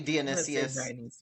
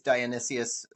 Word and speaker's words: Dionysius: Uh I say Dionysius. Uh If you look it up in the dictionary actually, which I did, it is Dionysius for the American pronunciation.